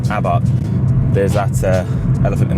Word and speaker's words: Abarth: need to say is a lot of UK owners say abbath or abath you know correct in the English language but brand pronounced Abbot there's that uh elephant